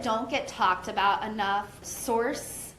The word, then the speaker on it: Sorce: Okay, so I think some that don't get talked about enough, Source, SORCE, so it's spelled a little bit different, more in the line of sorcery instead of sourcing something.